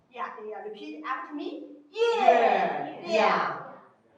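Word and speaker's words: 月亮: Okay, we call it 月亮. So if we like, repeat after me. 月亮.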